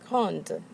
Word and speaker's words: grande: So, for our first column here on the left, we have grand, and we add an E to make it feminine, grande. Now the D is pronounced.